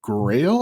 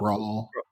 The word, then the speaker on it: Graal: Truffle Ruby is, it's Ruby that runs on Grail, I think. That's what it's called. Yeah. It's I don't know Grail how to VM, pronounce Graal.